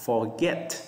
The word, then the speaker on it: forget: Ví dụ như các bạn phải đọc là forget chứ không phải là forget. Forget chúng ta lên giọng ở cái âm 2 nè.